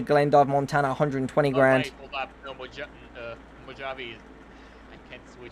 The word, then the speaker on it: Mojave: Oh, Mojave. Yeah, it's actually pronounced Mojave.